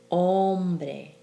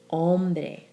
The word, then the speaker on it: hombre: you think about it then that stress falls on the second to last syllable as in medicine hombre question let yourself feel that stress medicine hombre question there's no written